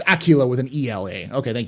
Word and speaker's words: Aquila: wolf I stand in just like tequila yeah it's Acula with an Ela okay